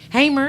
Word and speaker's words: Hamer: Hey, Did I say it right? Hammer, yeah.